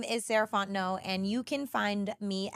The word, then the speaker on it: Sarah Fontenot: my goodness hi guys again my name is saraon no and you can find me at Miz saraon